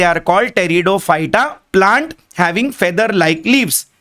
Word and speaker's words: Pteridophyta: देखिए उसका pronunciation P है बट पी is silent, we call it टेरिडोफाइटा।